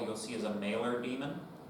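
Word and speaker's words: daemon: Um the other sense in which uh demon is used Some people pronounce it Damon, but they're wrong. That's how it's spelled, but not how it's said.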